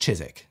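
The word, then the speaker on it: Chiswick: one obviously you know ignore that W it's just chisik chisik I've actually made an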